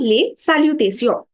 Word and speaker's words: salutations: Uh, So it's the same word in French, except it's pronounced as les salutations.